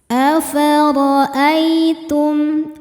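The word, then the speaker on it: أَفَرَأَيْتُم: Huruf ra dibaca secara tafkhim karena berharokat di atas yaitu harokat fathah. Cara bacanya ditebalkan. Afara'ai. Ai ada huruf lin karena ada ya sukun yang sebelumnya berharokat fathah. Cara bacanya cukup dilembutkan atau dilunakan. Afara'aitum.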